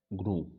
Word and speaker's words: GNU: पहले तो इसको GNU नहीं, प्रोनाउंसिएशन इसका GNU नहीं होगा, प्रोनाउंसिएशन जो होगा इसको ग्नू होगा। Wait a minute, now यू can easily C on screen, या इट is pronounced as ग्नू।